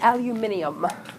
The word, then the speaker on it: aluminium: did that's good um it's aluminum foil or as the Brits say aluminium which I just think sounds ever so sophisticated um it is an element aluminum is an element it's